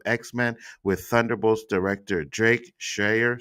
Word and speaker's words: Schreier: Marvel's Kevin Feige confirmed the studios is working on a reboot of X-Men with Thunderbolts director Drake Schreier, sorry for if I mispronounced that name, Shire is fine.